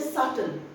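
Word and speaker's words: subtle: बी टी एल E spelling में बी आता है लेकिन while you are pronouncing it you will say सटल सटल एस यू बी टी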